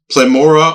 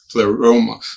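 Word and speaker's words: pleroma: first of all there was a phrase called plemora of spiritual be beings. Now I know what plethora is. I don't know what plemor is. I'm assuming the word is similar pleoma.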